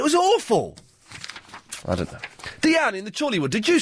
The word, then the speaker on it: Dian: And it's pronounced Deanne? It is. It is. My mother went to school with a French girl. Well, that's Diane without an E. No, I'm not a Diane. I don't answer to Diane.